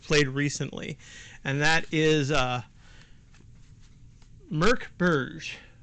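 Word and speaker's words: Mörk: recently, and that is Mork Borg. I know it feels like it says Mork Borg on the cover, but I've been assured that it's actually pronounced Mork Borg.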